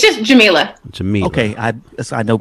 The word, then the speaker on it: Jamilah: my name correctly because it's jamila and most people say jamilla and so it warms